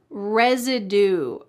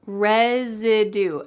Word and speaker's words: residue: Residue. Residue. Note that the S here is pronounced like a Z. Res. Residue.